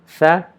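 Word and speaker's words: ث: Tha, we join our tip of the tongue to the tip of the top two incisors and try to pronounce sa, but since in order to pronounce sa, our tongue needs to be inside the teeth, but since we are joining the tip of the tongue with the tip of the top two incisors, we will not be able to produce the sound sa perfectly, and resulting the sound tha.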